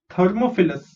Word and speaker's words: thermophilus: Then Thermophilus. Okay, THER is thir, MO is mo, PHI is phi, LUS is lus.